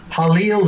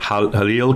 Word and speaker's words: Halil: And you are, part of the description is you're channeling, is it Jalil? Halil is how I pronounce it. Halil, Kronos, Metatron, Ascara, Mera, and the ancient days for this channel, and the ancient Ancient of Days.